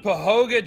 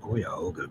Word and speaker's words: Cuyahoga: Do we know any way around Pahoga, Georgia? Around Cuyahoga Gorge.